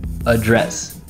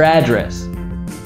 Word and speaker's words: address: Same with address. As a noun, first syllable stress, address. As a verb, address. Hey, what's your address?